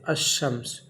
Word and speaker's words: الشمس: تلفظ بمعنی بولتے وقت، تلفظ کے وقت الف لام کا تلفظ نہیں ہوتا ہے، بلکہ الف لام کے بعد والے حروف پر تشدید ہوتی ہے، جیسے الشمس۔ تلفظ بمعنی جب اس لفظ